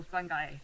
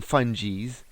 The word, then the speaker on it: fungi: Some people call them fungies. What do you think they're called? Fungi? They're actually pronounced either way. Yeah. But I pronounce it as fungi. Whether you're a fun guy or a fungi.